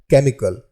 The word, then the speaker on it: chemical: हमारा अगला वर्ड है केमिकल, CHEMICAL। इस वर्ड में H जो है वो साइलेंट है, इसलिए C का उच्चारण यहाँ पर हम क के रूप में हम लोग यहाँ पर करेंगे।